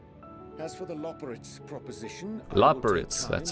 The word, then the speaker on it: Loporrit: As for the Loporrit's proposition, Loporrit's, that's how you say it.